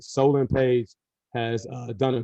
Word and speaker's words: Solon: of your two linebacker seniors uh nick and solomon page how they're doing uh this practices uh what your assessment of them um solomon uh solon i gotta make sure i pronounce his name right solan page has uh done a great job he's